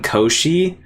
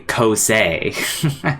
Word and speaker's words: Kosei: and Shorato, Ayo, and I kept calling him Koshi, but I think his name's actually Kosei.